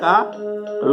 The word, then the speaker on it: कारे: शोणित स्रवत सोहत न कारे, कारे अर्थात काले, र का ल उच्चारण है तो काले।